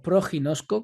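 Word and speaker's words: προγινώσκω: que en griego es la palabra proguinozco o proguinosco como en algunos la pronuncian que vemos por ejemplo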